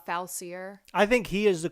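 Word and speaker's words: Facilier: say the other day dr faucier is that how you pronounce it yeah i believe that's the pronunciation i said uh falsier i think he is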